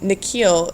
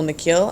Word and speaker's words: Nikhil: The way the principal pronounces his new name is different from the way his parents say it, in the second part of it longer, sounding like heel.